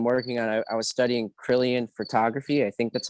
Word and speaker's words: Kirlian: I was studying Kirlian photography. I think that's how you say it. That's like one of those 14 things, right? Kirlian, yeah.